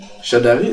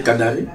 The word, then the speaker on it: Chadari: dit ba pona ki Chadari d'ailleurs tam na loba yango j'avais commis une erreur pour prononcer son nom j'avais appelé Kadari.